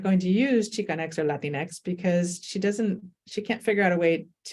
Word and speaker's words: Latinx: But it's not even the Spanish X, it's just Latinx, So I didn't use it for a while.